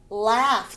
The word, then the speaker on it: laugh: the k is silent laugh the g h is is f sound laugh listen the t is